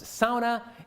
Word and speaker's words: sauna: thing to know that it's pronounced sauna and that anyone who says it any other way is wrong.